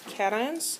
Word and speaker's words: cation: And this is cat, ion, not cation.